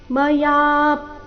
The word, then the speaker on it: ಮಯಾ: ತವೇದಂ ನೋಡೋಣ ಕೊನೆಯ ಚರಣ ಮಯಾ ಪ್ರಮಾದಾತ್ ಪ್ರಣಯೇನವಾಪಿ ಮಯಾ ಯ ದೀರ್ಘ ಹೇಳಿ ಯ ಮೇಲೆ ಪದ್ವಾಘಾತ ಮಯಾ ಪ್ರಮಾ ಪ್ರಣಯೇನವಾಪಿ